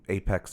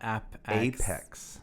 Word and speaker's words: APEX: not that it's not app 8x it's not yeah that's right it's not app acts as an application express its apex as in at the apex of a that's very important that's